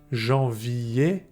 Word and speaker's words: janvier: ER is pronounced E. Janvier, février.